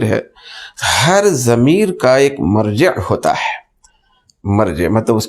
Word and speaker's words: مرجع: والا، ایک ہے مرجع جس کو عام طور پر تلفظ میں ہماری بولی میں مرجع کہا جاتا ہے، اصل میں دیکھا گیا تو اس کو کہنا چاہیے مرجع۔ تو اب ہم مرجع بھی کہہ سکتے ہیں سمجھنے کے لیے، مگر وہ اصل ہے تلفظ اس کا ہوتا ہے مرجع، لوٹنے کی جگہ۔ مفسر